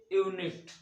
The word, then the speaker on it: unit: अबे देखो ये यूनिट गलत, यूनिट ये देखो ये इसका उच्चारण किसी तरह कॉन्सोनेंट की तरह हो रहा है।